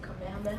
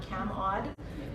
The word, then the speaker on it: Kamehameha: my biggest thing is to teach them to say kameha Auditorium and not cam odd which is what it's known as in um at Queens um